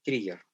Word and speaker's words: trigger: Pero esta acá se pronuncia con I, trigger.